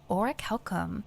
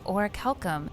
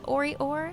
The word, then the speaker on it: Orichalcum: And I couldn't find any NPCs in-game saying Orichalcum, so for that reason I decided to add it in, just in case a few of you have been referring to it as Ori-or, such as myself.